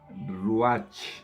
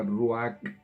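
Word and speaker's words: רוח: Dice, y el espíritu, esta palabra se escribe R-U con una cosita así encima, A-H, C-H. Se pronunciaría Ruach en español, en inglés se pronuncia Ruach.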